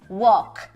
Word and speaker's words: walk: ter a certeza caramba não tem L nessa transcrição gente cadê o l não tem é só uma questão de escrita né e não de pronúncia então aí você percebe que é walk a comprovação tem gente